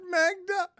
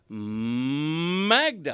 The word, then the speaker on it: Magda: Dan, you're not saying it right. No, it's Magda. That's how you say it.